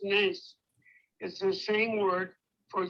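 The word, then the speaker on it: נס: When you say that adversity leads to something greater in the end, as I taught before, the Hebrew word for miracle, pronounced nes, is the same word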